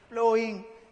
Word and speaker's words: ploughing: यहाँ पर वर्ड है PLOUGHING, प्लोइंग। यहाँ पर G और H साइलेंट है।